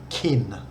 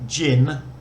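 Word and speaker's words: กิน: So if an English speaker looks at this word, G-I-N, they automatically think of the alcoholic drink and pronounce it gin. But it's neither gin nor kin with a K. It's like that hard G, gin.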